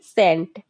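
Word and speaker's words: scent: मतलब होता है कंघा यहां पर यस वर्ड साइलेंट हो जाएगा सीई एन टी सेंट सेंट मतलब होता है इत्र सेंट का मतलब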